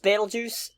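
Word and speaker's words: Betelgeuse: named well Batel it's I think it's still pronounced battle juice oh okay I think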